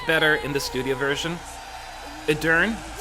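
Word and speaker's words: Edurne: Edern, that's how you pronounce her name.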